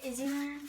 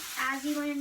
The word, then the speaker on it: Azzyland: Probably Izzyland, probably. Azzyland, you mean? Yeah, sorry, I pronounced it wrong.